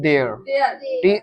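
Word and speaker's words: there: को कहते इंग्लिश में देयर इसको देर मत पढ़ना देर टी एच आर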